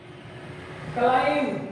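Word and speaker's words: climb: क्लाइम, यहाँ B silent है, क्लाइम यानी चढ़ना।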